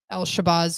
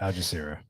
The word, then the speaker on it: Al Jazeera: But when we were talking about this, because my dad watches the Al Shabazz news or whatever it is. Al Jazeera. Thank you. I say it wrong every time.